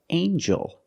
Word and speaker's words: angel: we have with eel angel in this word the G makes a JJ sound like jump and Juice together with the n a regular n Sound not the nasal but the regular n anel angel angel